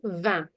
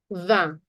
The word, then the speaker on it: vingt: And 20 is going to be vingt. Vingt. G and T on ne prononce pas. We're not pronouncing it.